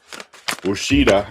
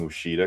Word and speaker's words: Ouachita: So, Ouachita. I just like saying the name Ouachita because it doesn't look like you would pronounce it that way.